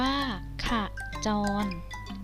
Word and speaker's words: ขจร: ตาม ต้องการ จ้ะ นาย ขจร อ่าน ว่า ขะ จอน เป็น คำ กริยา หมาย